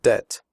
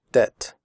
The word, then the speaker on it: debt: traded fitted noted but in the word debt the B is silent we do not say depth we say debt comfortable double has three